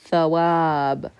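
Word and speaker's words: ثواب: Thawab. So here, wow is functioning as a consonant sound, making the W sound because it's the beginning of that syllable.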